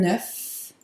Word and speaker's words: œuf: So the first thing is un œuf. Un œuf. and you pronounce the F, des œufs. And then in the plural, the F is not pronounced anymore, it's silent.